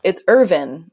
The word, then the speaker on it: Irvin: It's Irvin, but it's spelled like Irvine, the city in California. So for Americans, I had to say Irvine, like the city in California. And then for British people, it was the other way.